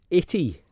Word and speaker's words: itty: Well, it's usually the word itty, a word which rhymes with gritty, giving a clue to